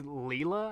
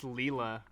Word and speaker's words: Lila: youtuber named her name her name's leela actually it's spelled l-i-l-a yeah it's leela oh my bad no